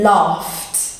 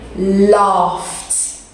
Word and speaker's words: laughed: can everyone say loft so it's spelt gh but you go laugh so it's kind of like an f gh sound it's one of the more difficult ones to pronounce in the english language but i'm sure you'll